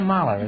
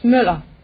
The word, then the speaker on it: Müller: Nina Mahler, is that right? No, it's Müller.